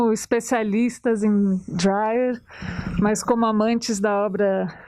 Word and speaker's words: Dreyer: Uma pequena observação, na própria Dinamarca, eles chamam o cineasta de Dreyer. Muita gente aqui pronuncia o nome dele como Dreyer. Eu simplesmente me acostumei com Dreyer, então, e você também, então, a gente vai pronunciar o nome assim.